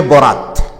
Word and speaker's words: বরাত: হচ্ছে রাত্রি বরাত শব্দটা বরাত বললেও আসলে এটা আরবি শব্দ মূলত উচ্চারণটা বারাত বারাত মানে মুক্তি পাওয়া